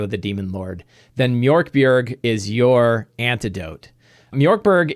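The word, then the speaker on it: Mörk Borg: It is pronounced Mork Borg, I am pretty sure.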